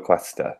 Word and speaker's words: cuesta: Cuánto cuesta? Cuánto cuesta? Cuesta. Cuesta. Yeah. So what's funny about Spanish, what's interesting is that you pronounce every letter all the time.